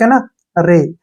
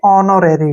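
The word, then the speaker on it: honorary: के रूप में करेंगे इसको हम पढ़ेंगे ऑनरी ठीक है ना नो रेरी या फिर नोर ठीक है ना होनोर नहीं पढ़ना है नो रेरी अब जैसे नेक्स्ट वर्ड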